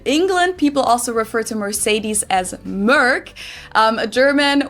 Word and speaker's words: Mercedes: Um, so most Americans call this Mercedes. In German, we pronounce it Mercedes.